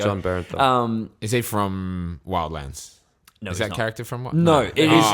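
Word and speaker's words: Bernthal: I always pronounce his last name wrong. Brenthal, I think it was. Barenthal. There we go. John Barenthal.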